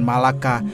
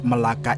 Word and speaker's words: Melaka: Malaka dan Hangtuah Kesultanan Malaka atau yang dalam pelafalan orang Malaysia disebut Melaka itu terletak di semenanjung